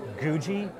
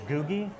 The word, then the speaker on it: Googie: popular in diners called, I believe it's Googie architecture, possibly Googie. It's the word Google, but replace the L with an I.